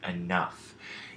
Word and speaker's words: enough: well as the word enough if you say these words out loud you'll notice that the pH as well as the gh make the sounds that we associate with the letter F so in other words